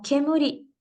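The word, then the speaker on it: 煙: separado el kanji eh número dos eh se pronuncia como kemuri y significa humo eso en su lectura de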